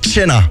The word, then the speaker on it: Tjena: Et salut, en Suède, ça se prononce Tjena. Tjena!